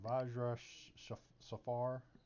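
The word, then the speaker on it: Vajra Safahr: As you enter the tower, you're into it's a round room, and Vajra, I think that's her name. Where's my pronunciation log? Yeah, that's it. Yeah, Vajra Safar.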